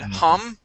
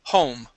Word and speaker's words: home: sound this time okay home you had said hum okay ho home home there you go yep